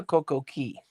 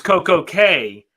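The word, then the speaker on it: CocoCay: Cay or Coco Key? It's Coco Cay because they sing the song Perfect Day at Coco Cay to that, 80s tune. It's gonna be perfect day, Coco Cay.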